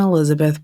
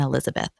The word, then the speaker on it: Elisabeth: So we're going to try and keep it as close to origins as possible, and we think it's pronounced Josef and Elisabeth.